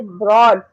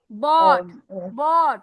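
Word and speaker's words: bought: लगेगी ना हम बोलो आई आई ब्रॉट नहीं आर नहीं है ब्रॉट नहीं बोलोगी ब्रॉट वो ब्रिंग का है आई आई क्या है बाय बॉट बॉट जो कश्ती नहीं होती जैसे बॉट बॉट ठीक है कश्ती वाला बोट आई बोट ओके तो ऐसे बोल बोट बोट बोट होती है एक्चुअली कश्ती कश्ती को कहेंगे ना बोट तो उसे याद कर लो आई बॉट बॉट okay are नहीं आएगा आर नहीं आएगा।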